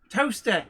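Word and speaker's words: Towcester: he went to toaster toaster yes which if you've been wondering like a place in the UK called toaster yes but it's spelled toester I for years I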